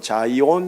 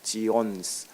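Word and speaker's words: Zion: 말로 시온 1 합니다 영어로는 자이온 이라고 하고요 히브리어는 지원 슬아 그래요 지온 우리나라 발음이 오히려 아 히브리 원어 에 가깝습니다 시온 예루살렘을 얘기합니다 그리고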